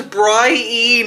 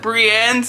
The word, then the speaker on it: Brienne: think her name is Brian are you joking this man thinks that brienne's name is Brian why didn't nobody say to him uh just so you know her name is pronounced Brienne why did nobody say